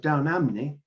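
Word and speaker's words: Down Ampney: alpha was vicar of down amne the p is more or less silent in gloucestershire where rafe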